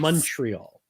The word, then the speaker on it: Montreal: And so for those of you listening, watching, you basically pronounce the O in Montreal as a U. Yes. Montreal.